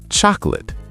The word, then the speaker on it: chocolate: Word number 8, chocolate. Chocolate. 3 syllables? No, 2 syllables. Chocolate. Chocolate. Where did the co go? Dropped. Native speakers say chocolate.